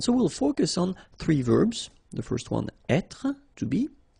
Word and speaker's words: vert: remember rou so masculine form don't pronounce the final t ver feminine form ver so listen carefully I don't say but it's ver ver okay so as usual